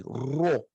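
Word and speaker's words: ῥῶ: E a pronúncia é como de um R, Rho.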